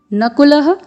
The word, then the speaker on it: नकुलः: फिर नकुलः, क में ह्रस्व स्वर है, फिर ल में विसर्ग है, तो नकुलः सह देवश्च,